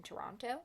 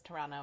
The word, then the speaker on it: Toronto: upper class household in Toronto. Blake's aunt. Toronto. Toronto? Toronto. Saguaro? Toronto. I dated a Canadian and I was corrected multiple times. You don't pronounce the T.